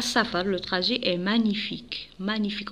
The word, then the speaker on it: magnifique: sa fable trajet est magnifique magnifique on dit pas magnifique magnifique je prononce pas la lettre g magnifique toit d'où elle jusque